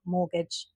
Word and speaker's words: mortgage: learn because there's no rule like Christmas, subtle, mortgage, and h at the beginning of words like